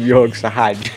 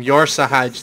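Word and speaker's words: Yor'sahj: Did you just call him Yor Sahaj? Yor Sahaj. That's this guy's name. Yor Sahaj, the unsleeping. Probably Yor Sahaj. Yor Sahaj, yeah. It's like Corsage, but a bit more gay.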